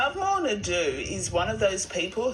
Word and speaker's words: Ndou: The proper pronunciation is Ndou. Ndou. So it's Lovemore Ndou, not Lovemore Ndou.